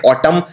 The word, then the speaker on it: autumn: पतझड़ को बोलते हैं ऑटम। तो ऑटम लिखते हैं AUTUMN। और इसमें सबसे कॉमन गलती यह है, M के बाद N आता है। ये N उच्चारण नहीं किया जाता, सिर्फ बोलते हैं ऑटम, लेकिन आखिर में N भी आता है।